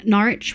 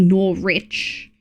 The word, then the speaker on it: Norwich: Uh, Norwich rhymes with porridge. Norwich. Yeah, Norwich I assumed would be like I didn't think it would be nor rich.